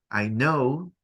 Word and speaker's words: know: Como cuando decimos I know, yo sé, tiene una K que no se pronuncia.